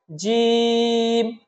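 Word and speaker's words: ج: এক আলিফ টেনেছি আর জিম হরফ আমরা চার আলিফ টানবো এবং জিম যখন আমরা বলবো তখন জিহবার মধ্যখান থেকে একটু শক্ত করে বলবো আমরা বলুন আমার সাথে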